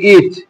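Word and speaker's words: each: আমরা জেনে নিই যখন ই এবং ও এর পর এ আসে তখন এ সাইলেন্ট থাকে। যেমন এখানে ইচ ই এ সি এইচ ইচ তো ই এর পর এসেছে।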